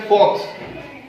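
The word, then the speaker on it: folks: फॉक्स, फॉक्स। तो एल यहाँ silent है, इसमें क्या?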